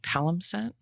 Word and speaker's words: palimpsest: It's called palimpsest.